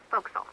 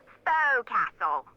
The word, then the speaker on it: forecastle: ship, but it's pronounced forecastle. Why is that? Try pronouncing it like an English sailor with no formal education. Forecastle.